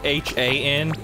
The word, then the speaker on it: Han: No, actually it's spelled H-A-N and pronounced Han.